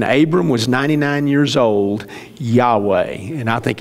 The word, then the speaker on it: Yahweh: it's not the lord we took the v out because it is yahweh when abram was 99 years old yahweh and i think it's